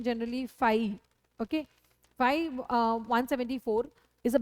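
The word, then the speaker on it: φ: ठीक है, इसका प्रोनाउंसिएशन जनरली फाई.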